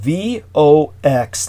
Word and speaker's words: Vox: you're speaking of is spelled VOX, like Vox as the Latin word for voice, correct?